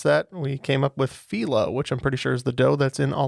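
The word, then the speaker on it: phyllo: today I learned that that word is properly pronounced felo I've called it Pho my entire life but it is correct uh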